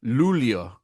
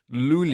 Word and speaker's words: Luleå: I looked it up, and it's kind of it's a weird pronunciation. It's like, I mean, you're saying it how it's kind of I was looking at written, I was looking at the translation notes. it's kind of like Luleå.